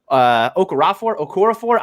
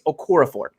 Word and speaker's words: Okorafor: The Steelers are going to have to choose between Chooks Okorafor. I say it wrong, and my co-host or my former co-host Chris Carter gets angry with me. I think it's Okorafor.